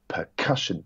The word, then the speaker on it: percussion: So, for example, the word percussion, it's percussion. That middle syllable is emphasized rather than percussion or percussion.